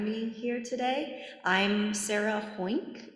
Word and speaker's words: Hoeynck: I'm Sarah Hoeynck. It's pronounced like oink with an H at the beginning, but it looks really different.